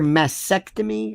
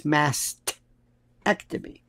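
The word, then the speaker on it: mastectomy: Do you ever hear massctomy? It's mastctomy.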